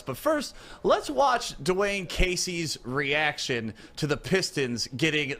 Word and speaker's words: Casey: Is it Coach Dwane Casey or is it Coach Dwane Cade E? No, I don't know that second name.